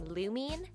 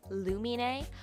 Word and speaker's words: Lumine: for your second question we originally when we started out we're pronouncing luminase name Lumine but as we kind of went on and as things kind of came to life in the fandom we realized that it was based on Finnish pronunciation which is lumen a and it's mostly closely related to the English word of illuminate in that lumen a is someone who brings light to Cody's life and I